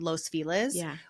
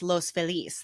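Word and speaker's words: Los Feliz: La there is a a neighborhood called loses which is in Spanish it's Los FIS that's the happy people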